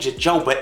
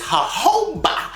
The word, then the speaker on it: jojoba: It ain't jojoba, it's jojoba. Jojoba, like Juanita, it's jojoba. Juanita, jojoba. Everybody know Juanita, and it's spelled with a J in the front, but that is not Junita, that is Juanita, and it's not jojoba, it is jojoba.